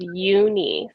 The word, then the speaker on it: Youni: So I just want to say it is Youni, so like Yeah.